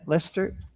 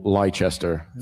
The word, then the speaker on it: Leicester: than you do in how do you say Lester? Lester. Yeah. Lester or Lchester Americans. Yeah. Yeah. For American, dude. You want to be cool, say Lester. Memorize that. Don't say Lchester.